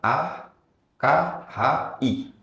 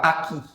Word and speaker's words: akhi: Kan itu kan A K H I. Itu kan bacanya akhi. Mau ngantar paket ke rumah Pak Aki.